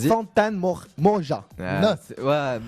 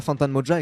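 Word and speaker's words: Fantan Mojah: Avec, alors, je vais essayer de bien le prononcer. Fantan Moja. Fantan Mojan.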